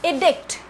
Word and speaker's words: edict: And the other word, which is edict. Edict. E-D-I-C-T. Edict. Here the pronunciation of E is a long E.